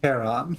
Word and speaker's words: Charon: The name you heard wasn't Karen. Oh, Jesus. It was C-H-A-R-O-N, as in Charon.